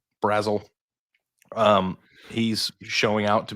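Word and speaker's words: Brazzell: Um I don't know how to pronounce Chris Basil's name. Is that correct? Brazle. Brazle.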